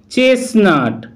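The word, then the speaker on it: chestnut: Rules অথবা নিয়ম নেই, যেমন চেসনাট চেসনাট, এই ওয়ার্ডটির মধ্যে প্রথম যে টি লেটারটি রয়েছে তার উচ্চারণ সাইলেন্ট থাকছে।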